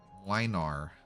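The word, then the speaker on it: Młynar: It's pronounced Milner. Welcome to the stream, by the way, if you're new. Hello. Bear VTuber, and we just rolled. Alright. Mlynar, it is a wanderer from a knight family.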